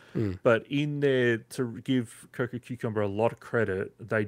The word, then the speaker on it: Cococumber: It's Cococumber.